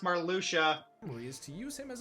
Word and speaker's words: Marluxia: Two organization members, Marluxia and Larxene, plan to use Naminé to wipe Sora's It's pronounced Marluxia.